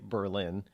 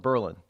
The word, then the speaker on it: Berlin: US evidently out of Berlin Germany or if you're here in New Hampshire we don't say Berlin we call it Berlin believe it or not